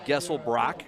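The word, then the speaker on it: Geselbracht: the visiting quarterback noah gessel brock gesselbrock spell g-e-s-e-l-b-r-a-c-h-t the t is silent the t is silent he's a 65 percent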